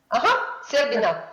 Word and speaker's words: Serbina: Serbina. Sorry. Okay, like that. It sounds like there is a dessert that sounds like that.